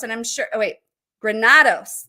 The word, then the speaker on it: Granados: So I'm so excited to introduce you to her, as well as Granados. And I'm sure, Granados. That's how you say it. And I said it incorrectly the first time, but I'm going to get it right throughout the show.